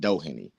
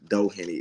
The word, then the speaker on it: Doheny: that doen that's his that's how you pronounce it Doheny I've been hearing all kinds of uh all kinds of names about this guy all kinds of different things but uh Doheny is how you say it and thank you guys